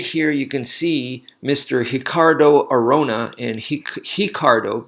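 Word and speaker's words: Ricardo: beginning of a word it becomes an H so his second R in cardo that R is an R like a normal R but the the first one becomes he so that's why I'm pronouncing is named that way in case you're wondering so just like hoist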